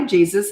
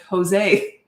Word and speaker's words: Jesus: Anyway, years and years ago, I had this client and I said, "Hi, Jesus. It's nice to meet you." And he said, "Actually, it's pronounced pronounced Jose, but it's spelled Jesus."